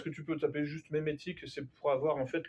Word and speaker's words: mémétique: Je vous invite très fortement à vous renseigner sur la mémétique. Qui a entendu parler de ça? Levez la main. La mimétique?